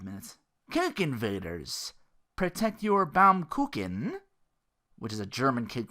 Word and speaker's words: Baumkuchen: And he's like, yes, it is pronounced Baumkuchen.